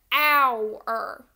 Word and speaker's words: hour: one for this word we know that our is spelled with an H however do we say our I'll be there in our no we don't we say our and we know that